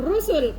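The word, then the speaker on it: رسل: Rasul itu sunya yang panjang itu satu. Kalau rusul pendek semua itu jamak.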